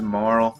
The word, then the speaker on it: Marle: character of the game her name is marl i really don't like that name i know that's how you're supposed to pronounce it i'm gonna probably call her marley i just like that's